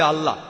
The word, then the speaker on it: আল্লাহ: যে ভাই স্কফিল্ড একমত উচ্চারণের কিছুটা পার্থক্য তারা বলে আলা আমরা বলি আল্লাহ উচ্চারণ কিছুটা আলাদা তবে শব্দ দুটো একই